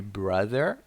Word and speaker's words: brother: Pay attention to the pronunciation of the word brother. Brother, short sound. So we had daughter, brother, father, and we had mother, right? So these vowels are important. Pronounce them correctly.